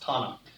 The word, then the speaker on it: Tanakh: Well, okay, so here's the Hebrew Bible, which is called the Tanakh. Hebrews love acronyms. Remember, there's no real vowels in Hebrew, but it's pronounced Tanakh.